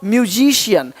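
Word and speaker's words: musician: रहे हो रेशियन रेशियन देख पा रहे हो म्यूजिशियन म्यूजिशियन देख रहे हो फेशियल फेशियल करवा लो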